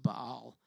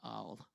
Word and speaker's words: Baal: where Elijah challenged the prophets of Baal and I'm not stuttering that's how it's pronounced but all and so he challenged